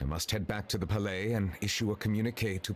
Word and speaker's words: Palais: to stay inside the palais. It's very safe in there. So there's no I in Palais then. There's no S, sorry. The S is silent.